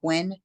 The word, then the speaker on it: Guin: find me on Facebook it's under Gwen it's spelled g-u-i-n and my last name